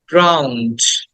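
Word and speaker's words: drowned: জ ক্লথস খেয়াল করো ক্লথস 24 উড বি ড্রাউন্ড এটাকে অনেকে ড্রন বলে বাট উচ্চটা হবে ড্রাউন্ড ড্রাউন্ড ড্রাউন্ড ড্রাউন্ড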